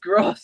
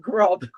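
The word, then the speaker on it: Groß: It's the way the language is spelled. It's pronounced Gross, not Grob.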